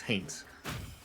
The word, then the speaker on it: Haints: I don't know why I always like soft pronounce the T. It's not Haynes, it's Haints.